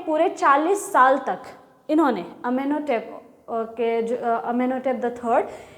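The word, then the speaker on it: Amenhotep III: अमेनहोटेप the third, Tut's father और grandfather. अच्छा, ये लिखा है अमेनहोटेप 3 लिखा है, इसको ऐसे प्रोनाउंस नहीं करते हैं, इसको कहते हैं अमेनहोटेप the third, the fourth, the second,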